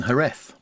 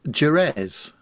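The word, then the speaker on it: Jerez: this um this week he's in herth or some people pronounce it jerz Mr Smith Oh JZ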